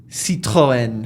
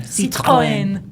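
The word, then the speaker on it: Citroën: Citroen. Citroen.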